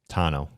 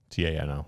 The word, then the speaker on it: Tano: Tano. Tano.